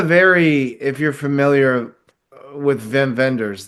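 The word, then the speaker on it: Wim Wenders: Um, it had a very, if you're familiar with Vim Venders, the the German director or Whim Wenders as everybody mispronounces, um, movies like Until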